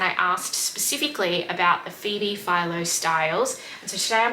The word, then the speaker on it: Phoebe Philo: all of my previous celine videos i had pronounced it as phoebe phillo when it's phoebe philo i hate when i mispronounce things it's how